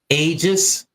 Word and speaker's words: Aegis: do you say that get that name again ages ages ages how do you spell it a e g i s that's your